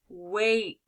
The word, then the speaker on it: wake: do our examples here how do you say this word wake good because i have my silent e will make my a sound let's do a different